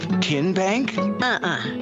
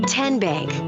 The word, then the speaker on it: TN Bank: you enroll wildcats roll how do you say the name tn bank no tin bank so what is it ten bank ten as in tennessee right here where all